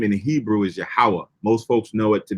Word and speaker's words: Yahweh: So the original pronunciation of the Most High's name is Yahweh.